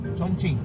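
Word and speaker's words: Chongqing: How do you how do you pronounce it? Chongching.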